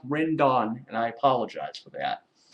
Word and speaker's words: Rendon: I kept saying Rendon, it's pronounced Rendon, and I apologize for that.